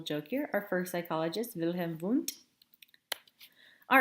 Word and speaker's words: Wilhelm Wundt: The first true psychologist, known as the father of psychology, his name is Wilhelm Wundt. He was German, and W's are pronounced kind of like as V's.